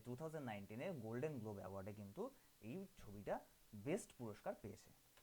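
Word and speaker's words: Cannes: Bohemian rhapsody তোমরা দেখে থাকবে, যে 2019-এ গোল্ডেন গ্লোব অ্যাওয়ার্ডে কিন্তু এই ছবিটা বেস্ট পুরস্কার পেয়েছে। আমাদের নেক্সট কোশ্চেন বলেছে কি, দ্য ক্যানস অ্যাওয়ার্ড, এটা কিন্তু ক্যানেস না, এটা হচ্ছে গিয়ে কান উচ্চারণ হয়, কান, কান অ্যাওয়ার্ড ফর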